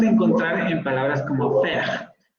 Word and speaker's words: faire: Y lo vamos a encontrar en palabras como faire. Aquí la única estrategia es pronunciar una E, pero tratar de abrir un poco más la boca. Es la misma del inglés como el bed, faire.